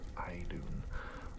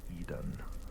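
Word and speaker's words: Iðunn: this one's name is i believe it's pronounced i dune although there's a part of me that thinks it could be done which is a lot like eden from the garden of eden and i don't think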